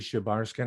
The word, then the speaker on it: Shebarshin: How would you pronounce that? Just as you did, Shebarskin.